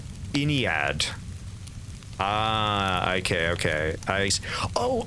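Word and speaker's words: Ynnead: Oh, I'm not sure I'm pronouncing that right. Yaned. Oh, pronounced Iniad.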